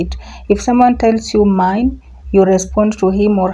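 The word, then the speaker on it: mein: Mine. Mine. In English is mine. Please take note of the pronunciation. This is German, not English, so it's mine.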